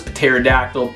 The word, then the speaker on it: pterodactyl: It's because the Greek we borrowed it had a pta sound, and we were like, oh yeah, let's spell it like that too. Except nobody says pterodactyl, psychology, or pneumonia, because that's just not a thing that English does.